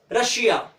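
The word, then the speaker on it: Russia: IA आया है, ये, तो डबल एस प्लस IA, तो क्या हो गया, रशिया, रशिया, ठीक है, जिसको हम हिंदी में रूस कह देते हैं, ठीक है। लेकिन उच्चारण क्या होगा, रशिया, ताले पे शौ का उच्चारण होगा।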